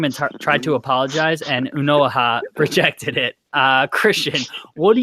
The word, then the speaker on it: Onuoha: Is that how you pronounce it? Onuoha? Yeah, Onuoha.